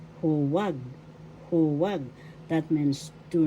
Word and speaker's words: huwag: Huwag. First syllable hu. Second syllable wag. The second syllable has the accent. Huwag. Huwag. That means do not do such a thing. Huwag.